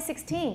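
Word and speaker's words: sixteen: Usually if it's the predicate, 就是一句话的补语, then it's going to be on the second syllable. 16. She's only 16.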